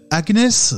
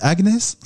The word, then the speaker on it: Agnès: J'accueille depuis Miami Agnès, c'est ça qu'on dit Agnès? Oui, c'est ça, non, Agnès. Je te taquine parce que c'est comme ça que les Américains prononcent ton prénom.